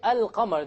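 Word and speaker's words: القمر: However, when I say al-qamar, the Arabic word for moon, can you hear the lam? Yes. This is exactly what the letters that are solar and lunar are. Okay, there's nothing to do with the sun and moon, but it's just that the Arabic word for ash-shams, the lam is silent, and the Arabic word for al-qamar, the lam is not silent.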